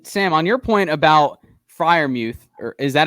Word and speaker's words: Freiermuth: Yeah, and Sam, on your point about Freiermuth, or is that how you pronounce the name, Freiermuth? Freiermuth.